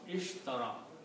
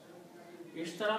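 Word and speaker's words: اشترى: If we add these two and keep the other three letters as they are, Sheen, Ra and Ya, and we pronounce Ishtara. Ishtara means to buy.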